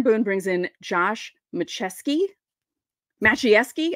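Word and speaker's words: Maciejewski: brings in Josh macheski macheski I think that's how you say it and he comes in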